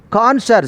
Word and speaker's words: connoisseur: Connoisseur, CONNOISSEUR. This is more difficult spelling also. The pronunciation is connoisseur. Most of the letters will be silent in this word.